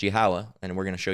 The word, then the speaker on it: Yahweh: And then the Father's name, Yahweh, which is pronounced Yahweh, and we're going to show you that in a minute.